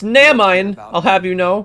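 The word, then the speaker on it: Naminé: only Nominee that you're looking for. It's pronounced Namine.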